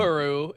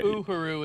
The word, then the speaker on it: Uhuru: Uhuru is how it's pronounced. I'm sorry. Uhuru is how it's pronounced in real life.